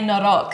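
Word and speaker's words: noroc: We say norok. Norok.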